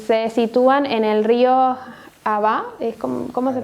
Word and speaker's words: Ahava: Porque se sitúan en el río Abá, ¿cómo se pronuncia? Ahava, gracias.